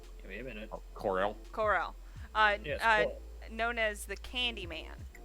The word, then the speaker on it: Corll: Cornell. I can't. It's spelled Corll. Give me a minute. Corel. Corell.